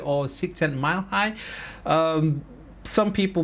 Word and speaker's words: Csikszentmihalyi: And one of the pioneers on flow, if you happen to read his book Csikszentmihalyi or Csikszentmihalyi, some people pronounce it different ways, but this guy, he writes a book called Flow.